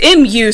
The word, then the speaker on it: Mu: It's M-U, so it's Mu.